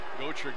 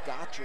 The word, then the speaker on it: Gotcher: I've been calling Gocher Gotcher in the first half. His name is pronounced Gocher, and I apologize for that.